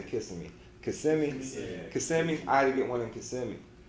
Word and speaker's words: Kissimmee: I say Kissimmee.